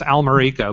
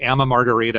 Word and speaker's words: Almerico: always is with sydney you butchered my name it's almerico but i'm used to it because sydney literally cannot say my name every time he introduces me at one of his events it's like here's and then he says some word that sounds like amma margarita or something so it's okay i'll